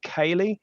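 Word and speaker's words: céilí: And I run an Irish event here that's in June every year called Data Cayley, and that's spelt data. You know how to spell it, but Cayley is CEILI.IE, and the word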